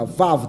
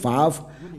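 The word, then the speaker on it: וָו: 这个 v 就是那个 vav 的读音，然后就这个是那个 vav 这个读音就是你的嘴巴、你的舌头来念的时候，按照那个百科全书就是 v，所以这个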